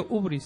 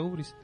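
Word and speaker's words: hybris: Se pronuncia ubris, se escribe ibris y se pronuncia ubris.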